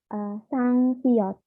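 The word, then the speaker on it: 쌍시옷: Lalu ada siot. Nah, double begini berubah menjadi sangsiot.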